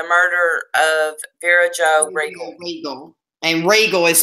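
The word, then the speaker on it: Reigle: Regal. And Regal is spelled R-E-I-G-L-E, I believe.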